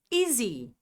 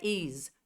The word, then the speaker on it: easy: Very easy. Easy. Um outro erro muito comum entre brasileiros é deixar de pronunciar esse Y no final. Não é is. Is é uma outra coisa. Easy.